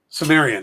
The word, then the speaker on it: Cimmerian: Cimmerian, yeah.